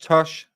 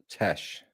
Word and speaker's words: Tash: Pronounced Tosh? No, it's with an A, it's Tash.